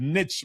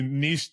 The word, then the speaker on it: niche: Canada and the US, but um I've heard niche before, but niche is the way it should be pronounced. So when people tell you to niche down, what they're often saying is be so specific, dominate a specific area.